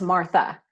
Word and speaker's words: Martha: It's actually pronounced Martha, Miss Martha.